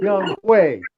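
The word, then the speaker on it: Younghoe: Well, you saw how it's spelled, but it's pronounced Young Way. Oh, is that really how his name is pronounced? It's Young Way? Not Young O?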